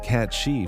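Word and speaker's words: cat-sìth: The cat seith, pronounced cat she from Scottish and Irish Celtic folklore, is creature that sounds adorable.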